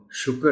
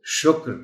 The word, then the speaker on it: شکر: عام گفتگو میں، تو اس کو ہم شکر نہیں پڑھ سکتے، اس کو شکر پڑھنا چاہیے. درست تلفظ یہی ہے.